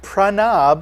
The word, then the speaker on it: Prav: say your name sir it's Prav PR Prav okay okay got it